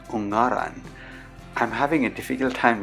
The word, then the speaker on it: Ungaran: The mountain's name is actually pronounced as Ungaran.